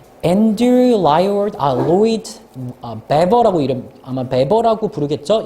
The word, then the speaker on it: Webber: Andrew Lloyd Webber라고 이름, 아마 베버라고 부르겠죠? 이 W가 독일이나, 그러니까 독일권 국가에선 W가 V 발음이 나거든요. 아마 베버라고 해야 될 거야.